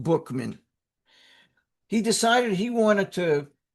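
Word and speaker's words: Buchman: Frank Buckman, B U C Hm, and it's pronounced Bookman. I'm sorry, it's spelled Buckman. It's pronounced Bookman.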